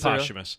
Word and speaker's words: posthumous: look it up because i've always heard it pronounced oh i looked it up i looked it up afterwards this is posthumous really yeah it is